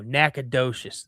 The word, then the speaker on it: Nacogdoches: Nacogdoches. There you go. Thank you. See, why don't they spell it how it sounds?